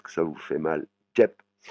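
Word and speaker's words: เจ็บ: Jep, hein, vous voyez, c'est le et c'est bien une voyelle courte.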